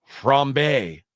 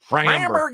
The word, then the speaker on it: Framber: Oh, maybe I don't think that's how you say it. No? No, We were talking about famous French guys earlier. I thought like that was Framber. Framber.